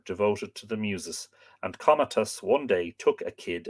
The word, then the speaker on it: Comatas: A certain goatherd named Comatas, not Comatus, Comatas used to feed his